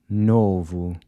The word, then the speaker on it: novo: Novo. And “shoe”? Sapato. How about “state”? estado. And “all”? Todo. So the “o” is pronounced with a /u/ sound as in the word “boot”.